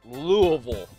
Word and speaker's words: Louisville: fans born and raised in Louisville Kentucky it's pronounced Louisville wool Kentucky Archbishop Thompson attended Bellarmine college and